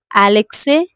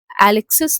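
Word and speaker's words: Alexis: तो एलेक्सी एलेक्सिस नहीं होगा। यह एलेक्सी द एस is silent क्योंकि यह फ्रेंच है।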